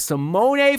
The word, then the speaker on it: Simone: I do want to make note that it is pronounced Simone. I will do my best to try to not call him Simone. Simone. So, I want y'all to know that cuz I heard him say it himself.